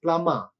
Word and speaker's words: plumber: uh here the spelling is p l u m b e r but the pronunciation of that word is plama no bar no already